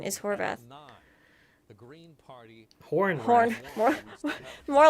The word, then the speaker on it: Horvath: I've been saying your name wrong. Oh, now, but, Yeti says people say it Horrath, which sounds bad, but Apparently the Wrath correct is not good pronunciation is Horvath.